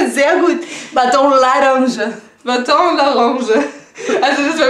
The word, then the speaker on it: laranja: Baton, man sagt nicht laranja, man sagt laranja. Laranja. L-A-R-A-N-J-A. Laranja. Yay! Perfekt! Laranja. Laranja. Baton. Baton. Laranja. Laranja. Laranja. Laranja. Ran. Also ihr müsst den R üben.